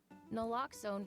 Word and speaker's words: naloxone: For the record, it's naloxone. Na, like, is naloxone addictive? Nuh-uh. Lox, like naloxone keeps humans safe like locks keep bikes safe, and own, like naloxone can save lives in our very own communities.